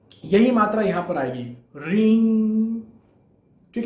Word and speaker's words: ह्रीं: बात आती है रींग की। एक्चुअली कई लोग इसे रीम कहते हैं। यहां पर म का उच्चारण नहीं होना चाहिए, यहां पर अंग का उच्चारण होना चाहिए।